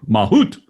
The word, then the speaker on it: mahout: I bet it was out of necessity because the guy Mamoot, what'd you say his name? Mahout.